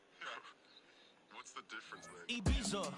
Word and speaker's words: Ibiza: Ibiza, yeah, it's pronounced Ibiza, actually. Yeah. What's the difference there? Ibiza, Ibiza, you won't see me in neither.